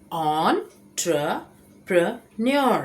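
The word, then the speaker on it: entrepreneur: सही तरीका है ऑन ट्र प्रपन्योर।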